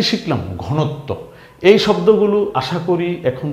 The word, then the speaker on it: ঘনত্ব: ত এর নিচে বফলা আসাতে ত এর ডাবল উচ্চারণ হয়েছে বীরত্ব এই শব্দটা কি ঘনত্ব ঘ ন ত বফলা ঘনত্ব রাইট তাইলে আমরা